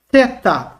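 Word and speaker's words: θήτα: Equivale no português TH, a transliteração, como na palavra thing. A palavra thing. Ok? Não vão pronunciar como thing, mas é só uma semelhança. Thing. Ok? Não tem som de F.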